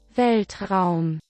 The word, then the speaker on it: Weltraum: Okay, so let's see how Google pronounces it. Weltraum.